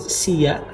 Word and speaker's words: sila: Or another one eh sila si the writing is s I l a sila but you pronounce it sia sila means duduk you